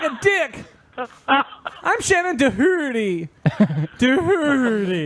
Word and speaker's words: Doherty: Doherty. The H is silent except when I pronounce it.